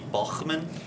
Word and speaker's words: Bauman: Well, if you ask the family members, it's Bauman. It's Bauman? If you ask the older generations, it would be Bachmann, which is a little more of a German tint to it, but Grandpa had to